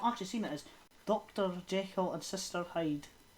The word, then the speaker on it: Jekyll: Jekyll and Mr. Hyde, he intended it for it to be pronounced Jekyll? No, because it's meant to rhyme with hide and seek.